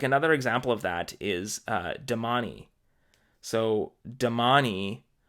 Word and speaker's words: Domani: i was calling them demain and again we've got this like e at the end that I just didn't realize was something that you're supposed to pronounce kind of like Hermione but yeah domani now speaking of that